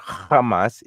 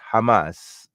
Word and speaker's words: Hamas: be the children of Hamas, okay. It's not Hamas, it's Hamas, okay. That's how it's pronounced.